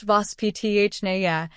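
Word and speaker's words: воспитание: Have you ever heard the Russian word vospitanye? It's pronounced vos-pi-ta-ni-ye, and while it's often translated as upbringing, that definition barely scratches the surface.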